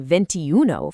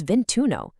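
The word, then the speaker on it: ventuno: Instead of clunkily saying ventiuno for 21, that first vowel drops entirely to make it smoother. It becomes vintuno.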